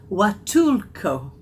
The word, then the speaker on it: Huatulco: But I've looked up how to pronounce it, and it's Huatulco, with a W sound, not an H-U-A-T.